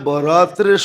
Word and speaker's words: বরাত: শবে বারাত বানায়া নিছে একটু ডিস্টেন্স উচ্চারণের ডিস্টেন্স আর কি নাইলে লিখতে একরকমই লেখে লেখতে একরকমই আরবিতে এক উর্দুতে আরবিতে একরকমই লেখে কিন্তু উচ্চারণে ডিফারেন্স একটা হলো বরাত আরেকটা হলো বারাত একটা হলো মুক্তি একটা